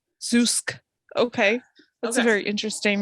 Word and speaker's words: Zoosk: So like zoo, and then SK. Zeusk.